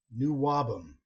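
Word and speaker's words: NWOBHM: New Wabum is how you pronounce it.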